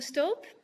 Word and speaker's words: Stoop: my name is stop and i also will listen to stoop because that's very often how my name is pronounced by english speaking people and i'm a